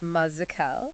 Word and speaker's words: Mazekal: It's pronounced Mazy Cal. Mazy Cal.